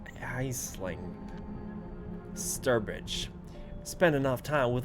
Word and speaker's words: Aisling: How do I pronounce that name? Aisling.